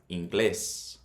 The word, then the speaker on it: inglés: It's not pronounced inglés, it's pronounced inglés. So the emphasis is on the second syllable, the E.